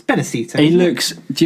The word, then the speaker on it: Benicio: Is that how you pronounce it? It's Benicio.